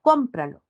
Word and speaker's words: cómpralo: lo se unen y se pronuncia cómpralo como esdrújula lleva batir se sometió